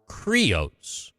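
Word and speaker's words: κρύος: The word cryossphere comes from the Greek word cryos or creos. That's the actual proper way to say it.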